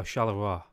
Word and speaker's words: Charleroi: Like how you pronounce king in French? Give me a second. I'm trying to remember how to pronounce this. Roi. Charleroi. Oh, Charleroi.